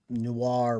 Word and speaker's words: noir: know if you realize Noir rhymes with star I think that's part